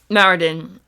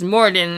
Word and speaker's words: Moradin: Because on Mondays, I do Greyhawk lore, deep dive lore, and Marodin, I accidentally mispronounced Moradin, and Moradin's the king